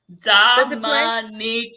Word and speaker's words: Dominica: Dominica.